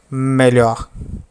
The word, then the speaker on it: melhor: Melhor, melhor, melhor, melhor.